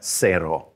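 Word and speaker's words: cero: on the number zero all you do is change the z to a c and you have zero zero all right one is uno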